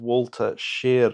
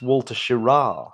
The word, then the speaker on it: Schirra: out oh by your your pronunciation of Walter shear oh here we go whoo we called Walter ship we called him home you know he was our astronaut of the week but it's Walter schirra I did know that